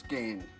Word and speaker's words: Ghan: exploration of the old Gan route and that is that I've been mispronouncing the name of the down thing it's pronounced as Gan as in the Afghan Express and not g as